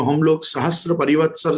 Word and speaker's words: सहस्र: मैं वापस कहना चाहूंगा वहां त्र शब्द नहीं है, वहां र शब्द है। सहस्र, सहस्र परिवत्सर, हम उसको हिंदी में जब बोलेंगे तब वो सहस्त्र बनेगा, लेकिन संस्कृत में जब उसका प्रोनाउंसिएशन होगा तो वो प्रोनाउंसिएशन उसका सहस्त्र होगा। तो मुझे सिर्फ इतना कहना